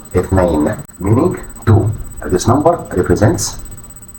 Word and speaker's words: اثنين: Pronunciation اثنين meaning two. This number represents duality. Duality. Its pronunciation may seem tricky initially due to the th sound, but it becomes easier with practice.